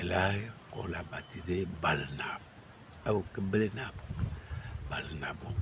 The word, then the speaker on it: Barnabo: Balnabo. Et le français dit Barnabo. Justement, c'est ce que je dis que c'est le français qui déforme c'est-à-dire la prononciation du nom.